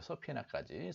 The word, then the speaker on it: subpoena: 서피나까지. 서피나입니다. 서피나. 서피나.